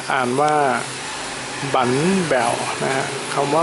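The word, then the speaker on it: bánh bèo: แบว นะ ฮะ เนี่ย ครับ เี่ อ่าน ว่า บั แบว นะ ฮะ คำ ว่า บั เนี่ย ภาษา เวียดนาม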